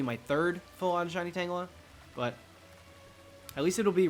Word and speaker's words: Tangela: third pull on shiny tangler but at least it'll be reclaimed in this game I'm cool with that totally cool with that isn't it pronounced like Angela no sweetheart no you sound like one